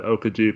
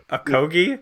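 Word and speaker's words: Okogie: Like an Okaji could shut down Beal. What'd you say, Okaji? How do you say it? Akogi? Akogi.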